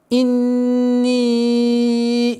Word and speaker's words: إِنِّي: Инни, тоже, как и в предыдущем аяте, четкое произношение огласовки кесра, удержание нун в размере двух огласовок, долготы огласовки кесра в размере четырех огласовок.